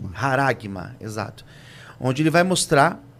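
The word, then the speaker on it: χάραγμα: Eu creio que é assim que pronuncia. Haragma. Haragma.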